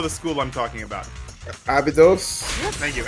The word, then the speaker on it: Abydos: said they were from actually from Abyssy. I never could pronounce that right the first time. Abyssy. Finally made it. Ruby, you know the school I'm talking about. Abydos? Thank you, Abydos.